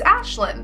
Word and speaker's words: Ashlyn: at me, and he goes, "How do you pronounce your name?" And I was like, "My name is Aislinn."